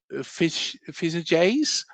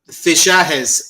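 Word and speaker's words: Fichajes: struggle saying this, uh Fish Fizz Jay's I think that's how you say it. FS. Fishes. Like um in Spanish the J is pronounced H.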